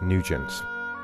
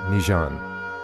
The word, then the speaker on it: Nugent: great britain he's called nugent in austria new zealand in croatia and france nijan in croatia he insisted on the simplified french pronunciation highlighting the importance of